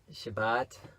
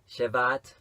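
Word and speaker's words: Shebat: It says, on the 24th day of the 11th month, which is the month of Shabbat, however you want to pronounce that, Shabbat or Shevat, in the second year of Darius.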